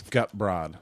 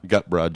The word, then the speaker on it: Goodbread: And if anybody does know him and wants to rat us out, Goodbread is not spelled like it sounds, is it? It's Gutbrod. Gutbrod, Gutbrod.